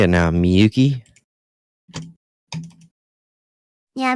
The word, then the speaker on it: Miyuki: Miyuki? Yeah, Miyuki.